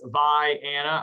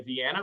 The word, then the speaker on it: Vienna: are locally originally uh it's vi anna i know everybody's gonna say vienna but uh if you're on the call today you'll you'll learn a little bit of illinois pronunciation of vianna we cover three parts